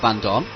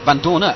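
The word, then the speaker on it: Vandoorne: Right, we're going to go on board now with Stoffel Van Dorn. And Van Dorner, apparently, we said his name a little bit wrong, I think, Pete.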